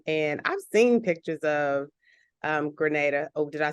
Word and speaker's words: Grenada: And I've seen pictures of Grenada.